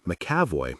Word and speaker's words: McEvoy: Its pronunciation, Macavoy, didn't jive with its spelling.